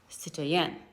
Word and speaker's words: citoyen: But in France, the word is pronounced citoyen.